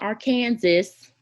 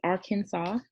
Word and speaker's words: Arkansas: And it's not Arkansas. America explain. I've seen that line. But it's Arkansas.